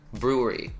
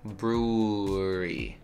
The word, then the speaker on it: brewery: brewery it's a very uncomfortable word brewery yeah you just kind of round your lips and stay there brewery brewery brewery and this